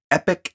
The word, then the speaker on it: Epoch: the first one being epic ms now epic is spelled e-p-o-c-h and it is a